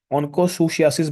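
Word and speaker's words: onchocerciasis: ऑनकोसियासिस बोलते हैं बच्चों। ये सीईआर को हम थोड़ी सा प्रोनाउंसिएशन ऐसे बोलते हैं। प्रोनाउंसिएशन इसकी ऑनकोसियासिस।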